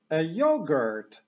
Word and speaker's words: yogurt: już to jako jogurt angielsku takie becz e akcentowana pierwsza sylaba Jur jogurt a tutaj mamy stoisko z jogurtami yogurt Stand yogur Stand i kiedy pokazujemy na coś